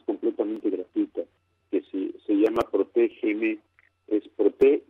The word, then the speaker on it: ProtegeM: aplicación que es completamente gratuita, que se llama ProtegeM, es Prote y la letra G y la letra M. Se pronuncia ProtegeM, escribe ProtegeM, y que es completamente gratuita y